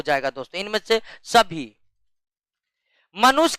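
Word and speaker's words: tsetse: किसके द्वारा फैलता है सीसी मक्खी के द्वारा किसके मक्खी के द्वारा सीसी मक्खी के द्वारा इंग्लिश में इस तरह लिखते टी साइलेंट हो जाता है निम्नलिखित में किस परजीवी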